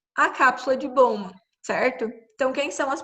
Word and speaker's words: Bowman: se pronuncia esse nome? Bowman, boa, alguma coisa?